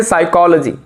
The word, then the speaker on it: psychology: होता है साइकोलॉजी में पी साइलेंट होता है तो हम बोलते हैं साइकोलॉजी ठीक है चलिए ध्यान